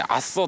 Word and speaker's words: 朝来: ど、あの朝来ると書いてアッソと読む変わった